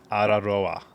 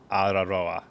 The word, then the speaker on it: Araroa: So the way to say tee-are-a-rho-a is T, and you got to roll your R's. Araroa, Araroa, tee-are-a-rho-a.